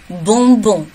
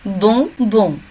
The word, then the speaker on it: bonbon: Также через нос произносим. Le bonbon. Le bonbon.